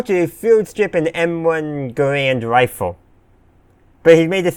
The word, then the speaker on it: Garand: And he says Garand, not Garand. No, he says Garand, not Garand. One is how most people pronounced it, and one is how the developer of the rifle pronounced his own last name, which is where the name comes from.